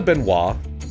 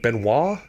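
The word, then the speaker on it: Benoist: Melissa Benois, I I think that's how you say it. I think it's like Benois Benoy. Hey everyone, I'm Melissa Benoy.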